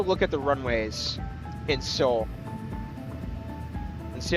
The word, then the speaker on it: Seoul: Seoul's pronounced Seoul, even though it's spelled differently.